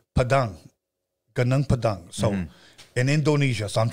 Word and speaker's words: Padang Padang: to you guys but I'm gonna say ganang Padang it's gone and then UNG ganang and then pad and Ang Padang Padang so in Indonesia so